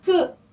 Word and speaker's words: feu: feu 발음 한번 볼게요. feu는요, 발음 기호가 제가 적어놨죠. 입술을 O 입술을 한 상태에서 에 소리를 내면 나오는 발음입니다. 이렇게 발음하시면 돼요.